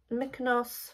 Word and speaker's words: Mykonos: Mykonos, that's how you pronounce it.